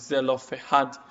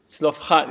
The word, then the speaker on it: Zelophehad: Okay, so in English, the way the name is spelled is Zelophehad, but actually it's Zelophehad.